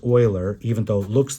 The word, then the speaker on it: Euler: Euler I know that looks funny because it's pronounced Euler even though it looks like it's Euler but this is a famous mathematician he's one